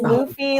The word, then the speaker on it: Luffy: John, it is Luffy like Goofy.